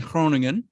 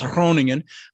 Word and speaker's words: Groningen: uh my family's in cronin the g is like it's hard to pronounce groningen uh but uh no